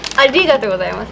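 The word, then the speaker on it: ありがとうございます: You weren't pronouncing the "ri" Right? Try saying "a-RI-gatou gozaimasu" — really hit that "ri" Emphasise the "ri" So you teach the finer points of Japanese too?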